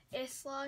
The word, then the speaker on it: Isla: People pronounce it different ways, like, it's, like, spelled I-S-L-A, but people say, like, Isla and stuff. I say Isla.